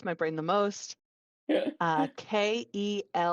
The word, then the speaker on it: Kelvin: brain the most uh k-e-l-v-i-n pronounced Calvin it's Kelvin but they pronounce it Calvin you're just you're setting